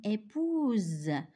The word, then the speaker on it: épouse: au féminin devient une épouse et pas deux S. Un seul S. Cet S, c'est la lettre S sonore. Ça veut dire s'écrit S, mais ça se lit Z.